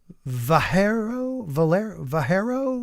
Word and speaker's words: Vallejo: Greetings and salutations from Vallejo, California. I know I've heard of it and I just can't pronounce it, but it's like Spanish, right? So it's like a ha instead of a ya, Vallejo.